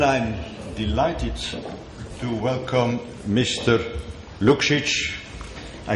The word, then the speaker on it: Lukšić: Lukšić, I pronounce it rightly?